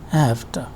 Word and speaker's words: have to: is also voiceless, and it is because of the effect of t that v is pronounced as f sound, and it is just like this, have to.